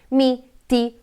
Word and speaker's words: mi: perché hanno l'accento quindi quando pronunciamo mi vedete non ha molta forza questa parola se invece di con me guardate innanzitutto come apro di più la bocca e come si sente di più l'accento in questo caso ok quindi